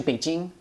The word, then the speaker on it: Beijing: and A J and it's now pronounced Beijing well I guess people in international new news organization they say Beijing it's kind of weird but it's actually Beijing right but why the